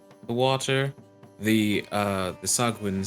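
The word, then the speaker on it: sahuagin: hopefully yeah how do you say it I pronounce it sagwin sagwin I like that that sounds fun the sagwin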